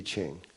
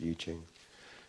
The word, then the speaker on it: I Ching: want to study it in detail read the iching out of china the iching some people say i ching but it's actually pronounced yuching it's the book of changes there are 64